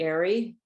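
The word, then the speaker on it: eyrie: So here is the Eerie, or Eerie sometimes it's pronounced, which, as you know, is the nest of an eagle, built in a high, inaccessible place.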